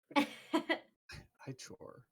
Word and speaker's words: ichor: It's Ichor. Thank you very much. Ichor. I chore.